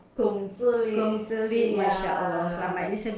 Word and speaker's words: Kongzili: Oh, Gongzili itu bacanya Gongzili, Masya Allah.